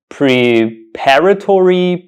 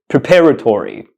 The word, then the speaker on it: preparatory: pronunciation of this word the students pronounce this word pre paratory Preparatory students don't really know how to pronounce this word when they see it because this word somehow does not trip off the t is is really hard to pronounce but the correct pronunciation of the this word is Preparatory Preparatory Preparatory Preparatory Preparatory